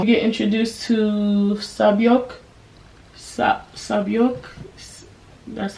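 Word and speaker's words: Sae-byeok: Sabyok, that's how you say it.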